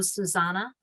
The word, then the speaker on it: Xusana: is spelled x-u-s-a-n-a and pronounced like the song oh susanna she got her law